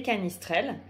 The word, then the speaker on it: canistrelli: Aujourd'hui, je vais vous parler de la recette des canistrelles. Canistrelli, prononcé canistrelle par les Corses, puisque c'est une recette qui vient de Corse.